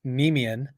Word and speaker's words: Nemean: So it's Nemean, Oh, Nemean Pride, nice. Okay. and that's the name of the lion in Greek mythology, the Nemean lion.